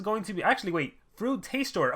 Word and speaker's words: Frutastor: two monsters we have frustrator this is going to be actually wait fruit taste store oh i've been saying his name wrong the whole time so it's literally like fruit taster he tastes fruits uh this is gonna